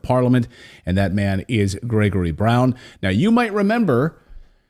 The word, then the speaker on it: Grzegorz: I should point out I'm using the the Western pronunciation of of your first name so to my polish viewers I apologize but I've triy I tried for like 10 minutes for your polish viewers my name is Gregor Brown I I said